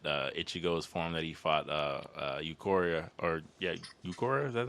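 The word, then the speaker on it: Ulquiorra: Bleach game that Ichigo's form that he fought Eukoria or yeah Eukoria is that the name? I can't never pronounce his name. Ukiora, yeah.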